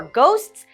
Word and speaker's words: ghosts: For our final GH sound, we have a hard G for ghosts.